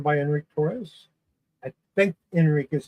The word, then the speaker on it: Enrich: I think Enric is how you pronounce his name. Uh it's spelled e n r i c h, so it could be enrich, but I think it's Enric.